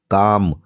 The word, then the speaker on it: calm: काम, CALM, काम मतलब शांत टाइप का व्यक्ति, इसमें एल साइलेंट है। एल साइलेंट है इसलिए इसको काम पढ़ते हैं।